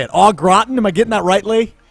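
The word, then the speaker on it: au gratin: still don't know how to say it all Groton am I getting that rightly you got it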